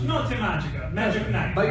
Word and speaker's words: Notte Magica: Notte Magica. Notte Magica.